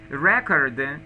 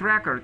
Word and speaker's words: record: Record, it's a noun. When you say a verb, you have to use the accent on the second syllable. It's not record, it's record.